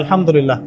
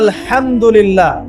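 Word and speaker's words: الحمد لله: আপনি পড়ছেন আল্লাহু আকবার, আলহামদুলিল্লাহি রাব্বিল আলামিন, এই তো আপনি পড়ছেন আলহামদুলিল্লাহ। শব্দটা কি? আলহামদুলিল্লাহ। এই হা এর মাখরাজ কোথায়? হা এর মাখরাজ কোথায় বলেন একজন? কণ্ঠনালীর মাঝখান থেকে।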